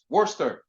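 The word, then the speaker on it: Worcester: in the Coast um if you look at the spelling of wor Worster uh which really spelled like Worchester but just a bunch of like thing disappear um so yeah so that's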